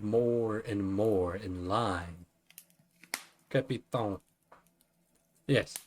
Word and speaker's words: capitaine: Capitaine. Yes, French pronunciation of captain is capitaine. Right? Capitaine? So you want more of a 10 sound, I imagine.